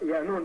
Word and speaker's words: Yaanuwn: They say Yaanuwn, it's pronounced Yaanuwn, depending on the dialect of what galaxy you're in, the pronunciation changes.